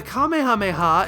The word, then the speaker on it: Kamehameha: But it's pretty appropriate for a move that is often pronounced sound by sound.